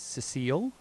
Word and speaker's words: Cecil: Well, did you know that you could pronounce Cecil as Cecile?